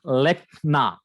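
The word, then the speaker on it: לֶכְנָה: So that stress is on lamed. So here we can see the pronunciation as lekna. Lekna. So here we can see that after an accent, the Shiva is always silent.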